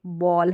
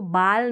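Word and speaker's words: ball: फिर ये बॉल है, इसको बाल नहीं पढ़ेंगे, बॉल पढ़ेंगे। ए जो है ना, ये बीच में ए आ रहा है, इसको अ करके प्रोनाउंस करेंगे, डबल एल का उच्चारण ल रहता है।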